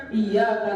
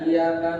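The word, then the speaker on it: إياك: per PertolonganMu second kontrak makanya bacanya harus pakai iy kalau dalam taksin itu ada tasdidnya ada sidah sidah itu penekanan kalau dibaca tanpa sidah maknanya b bukan hanya kepada Allah kalau dibaca iyaka nabudu waaka n bukan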